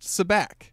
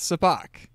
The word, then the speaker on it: sabacc: for the first time it's not pronounced sabacc that's how I've always pronounced it it's pronounced soo bahk the the card game